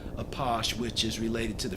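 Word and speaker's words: Apache: like the Native American tribe but it is pronounced a posh which is related to the French underground this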